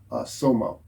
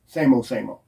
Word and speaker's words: SAMO: And that was on purpose because he wanted to build this kind of mystique around Somo or Samo, however you want to pronounce it. It was Samo.